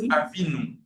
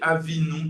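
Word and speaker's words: אָבִינוּ: C'est la raison pour laquelle on prononce Avinou.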